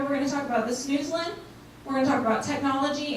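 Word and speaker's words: Snoezelen: I'm going to talk a little about snoozlin, and it's how it's pronounced, snoozlin.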